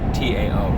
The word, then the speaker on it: Tao: There's an appendix in that book in which he calls the natural law the Tao, T-A-O, pronounced Tao.